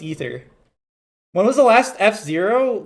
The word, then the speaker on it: Aether: of ather 2 Rivals of ather the canonical pronunciation seems to be ather ether not ather but I'm not changing the way I say